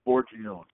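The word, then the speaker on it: Forgione: your famous chef client Mark how do you pronounce his last name uh foron foron yeah so there's a great picture of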